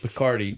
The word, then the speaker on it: Picardy: They said Picardy, which I love that as a word. Like rhymes with Bacardi.